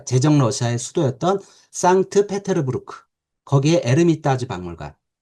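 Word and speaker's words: Эрмитаж: 거기에 에르미타즈 박물관. 그 러시아어는 H가 묵음이거든요. 그래서 영어의 헤리티지가 이제 러시아 말로 에르미타즈입니다.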